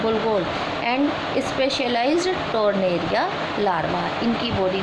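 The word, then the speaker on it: pteron: Class 2 टेरोब्रैंकिया group टेरोन. यहाँ पर P silent होगा.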